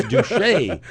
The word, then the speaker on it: Duche: I'm like, is that guy's name Douche? No, it's Duche.